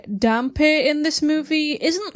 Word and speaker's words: dhampir: a channel with the help video for saying it in English. Dampir. It comes across like the actors in the film are misreading the word.